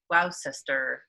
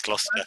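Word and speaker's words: Gloucester: can't even say it the glow glow sister gluster yes gluster so so it's in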